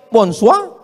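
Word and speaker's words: bonsoir: Bacanya bonjou. Bon soir, bonsa.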